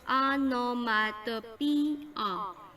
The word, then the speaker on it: onomatopoeia: again hyperbole so the next one onomatopoeia onomatopoeia pronounced onomatopoeia refers to words whose pronunciations imitate the sounds